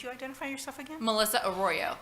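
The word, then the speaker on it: Arroyo: I'm sorry would you identify yourself again Melissa oroo it's the pronunciation my last name a r r o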